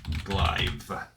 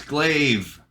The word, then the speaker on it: glaive: Aegis was not Aegis pronounce glive oh it's glaive I don't want my microphone so it's look it's pretty it sounds like glaive glave listen I just had